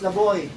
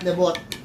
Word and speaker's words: Levoit: It's a French word, so it's pronounced Laboy, not Lebot.